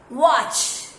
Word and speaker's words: watch: Watch. Watch. Sh sound is different.